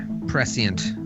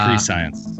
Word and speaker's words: prescient: unlike Callum, you are quite the prescient character, Dax. You saw that all happening before it happened. It's pronounced pre-science.